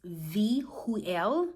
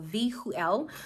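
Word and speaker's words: Vehuel: So the angel the way you say this angel's name is Vueel. So Vhuel.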